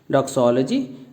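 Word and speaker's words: doxology: डॉक्सोलॉजी जैसा अभी हमने बोला ये इसकी प्रोनाउंसिएशन है, जिसको हम 4 पार्ट्स में तोड़ते हैं।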